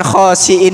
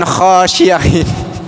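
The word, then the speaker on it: خاسئين: Magetan itu baca qirodatan khosiin itu bukan dengan Sin tapi dengan syin dan Ain kirodatan khosyiin kera-kera yang khusyuk maka Jangan sampai keliru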